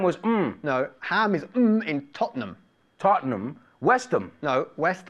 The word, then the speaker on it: Tottenham: you ever been to Tottenham Court Road?